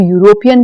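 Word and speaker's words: European: लेकिन यह 'E' स्वर 'E' नहीं है। आपको ध्वनि पर ध्यान केंद्रित करने की आवश्यकता है।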